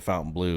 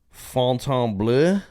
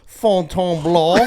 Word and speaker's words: Fontainebleau: Fontainebleau. Okay, thank you. Because there's no U in it. There's no U. Because they say Fountain Blue, But right?